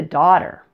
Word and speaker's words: daughter: let's get back to daughter basically the GH in the middle is silent this should help you